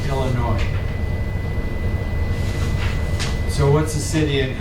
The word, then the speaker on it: Illinois: Illinois. That is pronounced with no sound for the S. Illinois.